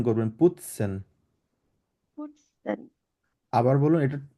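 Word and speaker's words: putzen: টি টা যেটা আছে পুতসেন এটা টি উচ্চারণ না করে ত উচ্চারণ করবেন ফুৎসেন আবার বলেন তো দেখি না টি না আপনি ত উচ্চারণ করবেন পুতসেন পুটসেন আবার বলুন এটা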